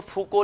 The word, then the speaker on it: Foucault: Spelling यही है, spelling यही है, लेकिन प्रोनाउंसिएशन आप देखेंगे तो इसको फूको लिखा गया है।